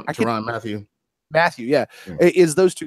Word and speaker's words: Tyrann Mathieu: Tyrann Mathieu.